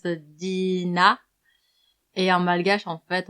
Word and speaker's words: Dina: Je m'appelle Dina et en général, en français, on le prononce Dina et en malgache, en fait, on le prononce Din.